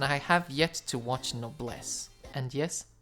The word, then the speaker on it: Noblesse: have yet to watch noblesse and yes that's how it's pronounced because there's a swedish chocolate called that and it's damn good